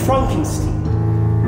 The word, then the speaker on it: Frankenstein: That's Frankenstein. My name is pronounced Frankenstein.